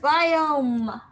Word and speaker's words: biome: interesting but uh oh how many sounds do you hear in biome go ahead another four four yeah there you go biome one two three four i oh got the